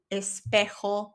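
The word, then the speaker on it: espejo: But remember the J in Spanish makes an H sound in English. L espec the mirror.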